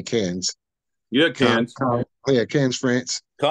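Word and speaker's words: Cannes: and and can France is that how you say cans it's spelled c an NES but I think you just say cans yeah can yeah can's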